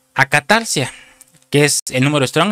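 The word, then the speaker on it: ἀκαθαρσία: de una palabra griega original que es se pronuncia acatarcia, que es el número strong.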